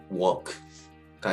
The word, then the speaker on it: walk: 알파벳 A 또는 알파벳 O 다음에 LK가 나오게 되면 이때도 L이 묵음이 됩니다. 대표적인 예로는 fork, talk, walk가 있겠습니다.